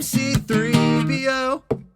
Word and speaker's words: C-3PO: am c-3po i am c-3po i am c3 one two three four i am c-3po that's not how you say it though c3po so the accent is on three c3po 3po